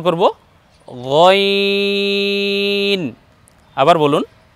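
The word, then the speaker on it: غ: দ্বিতীয়টা উচ্চারণ করব গইন। আবার বলুন গইন।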